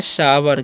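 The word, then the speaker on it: sour: हम लोग पढ़ते हैं सावर क्या पढ़ते हैं जी सावर पढ़ते हैं सावर क्यों पढ़ते हैं क्योंकि यहां पर ओ यू का जो उच्चारण है क्या होता है आव हो जाता है ठीक है तो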